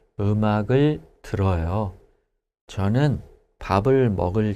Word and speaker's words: 들어요: But when we conjugate it, we change the digat to real. 네. So the pronunciation is 들어요.